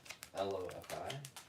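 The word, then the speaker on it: LOFI: L-O-F-I? What? How's it spelled? L-O-F-I, but pronounced lo-fi.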